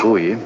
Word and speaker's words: buoy: That Melkoshian buoy. Buoy. That Melkoshian buoy. We've contacted your buoy and understand its message. Buoy. Hey, boy. It's like boy.